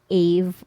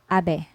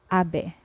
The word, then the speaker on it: ave: English vodka vodka and another way to pronounce v in Spanish is soft B when placed in between vowels okay say for example